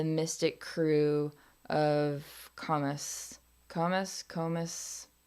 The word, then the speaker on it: Comus: Krewe of Comus Thomas comas spell it Co mus comas comas is what I would I was doing comas not come on us yeah comas Co mousse